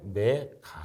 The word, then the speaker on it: 메가: 이것 은 단위 이므로 " 메가 " 라고 읽습니다 .